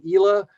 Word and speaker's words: Islay: will say to me simon is it islay is it ela just remember isla means island and you got the pronunciation of the region so here's the toast